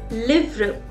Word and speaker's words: livres: Now to plural books I will say it as livre. I will write the S at the last, but I'm not going to pronounce it.